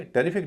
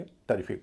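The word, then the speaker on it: terrific: लेकिन स्ट्रेस वाले हिस्से से पहले वाला जो वोवेल है वो हल्का होगा। यानी शुरू में जो इ है उसका उच्चारण हल्का हो जाएगा। उसे बोला जाएगा अ। तो इसे टेरिफिक ना बोल के टेरिफिक बोलेंगे।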